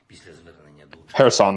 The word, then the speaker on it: Kherson: When they were reading off the numbers of people that were still within the Kherson, is it Kherson or Kherson? Kherson, the K is silent.